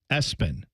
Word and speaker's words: Espen: Dad campaigned with mom and said, how about we make his middle name Espen? And when I say that, I mean ESPN, spelled out, pronounced Espen.